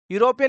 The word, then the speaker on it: European: European is a word which has been started by using vowel sound, but the pronunciation, if you observe, it is giving consonant pronunciation.